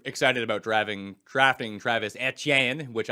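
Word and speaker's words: Etienne: about driving drafting Travis at Yen which I still pronounced with a French accent by the way as it should be pronounced cuz he's from Louisiana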